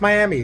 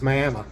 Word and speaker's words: Miami: video and say that's Miami no it's Miami that's I was corrected on that and explained that is how they pronounce it here it's not like Florida so had a very